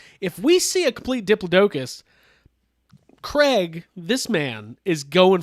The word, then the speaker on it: diplodocus: this diplodocus which we all know is actually pronounced diplodocus uh but uh in in dino writers it's diplodocus and that was my all-time favorite dino writer's